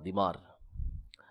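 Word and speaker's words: ضمار: کو پوجا کرتے تھے۔ ضاد میم الف را، دیمار۔ دیمار اس کا صحیح تلفظ ہے، بعض نے اس کو دمار بھی پڑھا ہے۔ اس کی عبادت کرتے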